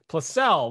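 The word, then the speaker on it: Plossl: i always tell people it's like a plus sign and a letter l plus cell placel well i got it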